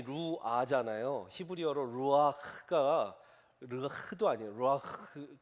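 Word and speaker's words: רוּחַ: 루아흐, 크와 히읗 발음과 키읔 발음을 잘 해야 돼요. 루아흐.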